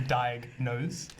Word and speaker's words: Diagnose: So maybe you can tell us a little bit about, is it Diagnose?